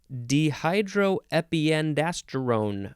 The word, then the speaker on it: dehydroepiandrosterone: The next word, DHEA, all caps, abbreviation for dehydroepiandrosterone. I think I added a syllable in there.